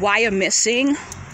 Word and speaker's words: Wyomissing: for a stroll through this area is called wire missing yeah they had the nerve to keep the native american names so it's spelled w-y-o-m-i-s-s-i-n-g why are missing pennsylvania they have a lot of native american